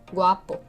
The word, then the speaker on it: guapo: Guapa, guapo. Notice the accent in the second syllables.